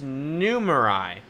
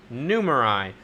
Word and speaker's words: Numerai: found it new oh instead of Samurai that's right it's numerai numerai and the founder is Richard